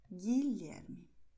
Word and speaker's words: Guilherme: Preste atenção que no caso de GUE, GUI, a letra U, ela é escrita, mas ela não é pronunciada. Miguel, Guilherme. E essa é uma regra que tem algumas exceções.